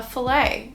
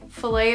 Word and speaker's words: fillet: love though is um this word french derivative usually referencing fish some kind of meat so in canada we would say a fillet fillet of fish for example right like